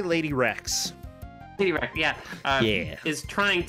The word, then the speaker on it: Lade1rex: Also, I want to see if Lady, how do you pronounce her name? I say Lady Rex.